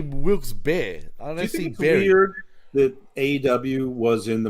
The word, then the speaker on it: Wilkes-Barre: Plaza in Wilkes but how do you pronounce it I say Wilkes-Barre but I think it's better I think I pronounce it wrong though because that's like an hour and a half from me for two hours for me I mean to the outside world it's wilkesbury but they do pronounce it definitely there but well I'll say Wilkes beard that aw was in